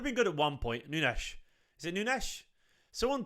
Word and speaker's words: Nunes: noodles from now on Nunes it's Nunes it is noonies so when we say